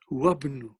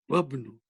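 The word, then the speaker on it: وابن: Va will go straight into ba. Wabnu. As if it is not there. You will see, you can think it as if it is not there. How will you pronounce this? Wabnu. Wabnu. So that's the way you will pronounce it here.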